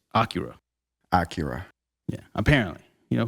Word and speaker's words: Akira: So it's like we were throwing the accent on the last day, or like Akira. It's on the first day. It's Akira.